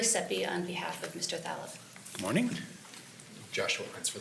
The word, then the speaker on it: Thaleb: It's Thaleb, Your Honor. Taleb? Thaleb with a Thaleb TH. with a TH.